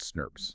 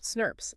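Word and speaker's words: snRNPs: These complexes are called SNR&PS pronounced SNUPS. SNURPS. Okay.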